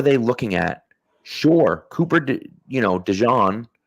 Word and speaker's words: DeJean: Sure, Cooper, DeJean, right, which that is the correct pronunciation, by the way.